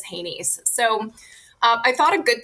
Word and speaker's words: HANYS: of the way that we refer to them as HANYS, so HANYS, and we just pronounce that as HANYS.